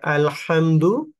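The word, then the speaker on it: الحمد: বিসমিল্লাহির রহমানির রাহিম আলহামদু আল হামদু এখানে হা হলকের মধ্যখান থেকে উচ্চারণ হবে যদি আমরা বলি আলহামদু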